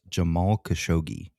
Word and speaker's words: Jamal Khashoggi: Now, I've heard this name pronounced a couple different ways, but the most common I've heard is Jamal Khashoggi.